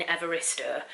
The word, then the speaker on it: Evaristo: the way that um evarista i hope i'm pronouncing her name right i'll have to um so i've just had a look online and the way you pronounce her name is bernardine evarista so i was saying